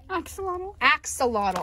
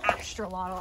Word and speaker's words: axolotl: There's a shark for me, a narwhal, and also in, how do you say this again, Axolotl. I've been calling them Astrolotl.